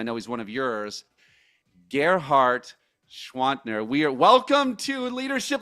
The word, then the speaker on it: Gerhard Gschwandtner: heroes and I know he's one of yours, Ghart Schwantner. We are Welcome to Leadership Live. Thank you for pronouncing my name.